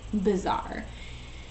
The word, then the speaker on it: bizarre: This word bizarre sounds like another word, bizarre.